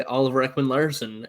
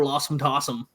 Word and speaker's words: Oliver Ekman-Larsson: of Don Cherry and his complete blunder of pronouncing names. My favorite is Ron McLean tells him, oh yeah, this is young guy Oliver Ekman-Larsson, and Don Cherry goes, yeah, look at Oliver Lossum Tossum.